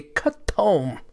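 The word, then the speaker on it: ketum: that's stupid but uh the native pronunciation i had a scientist from malaysia on here he's like brian you say cut home k-h-e-t-u-m yeah we we had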